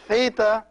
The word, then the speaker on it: theta: theta and the vita the theta is pronounced like the th in thanks so it's and the